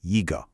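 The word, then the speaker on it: 一个: The number one e is a first tone, but when it comes right before a fourth tone syllable like g, it actually changes to a second rising tone. Y. So, we say yiggo.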